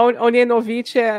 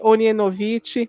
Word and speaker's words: Ognjenović: A Ognjenović, o som do G é o som de I, Ognjenović, Maia, Ognjenović, mas a gente fala só Maia,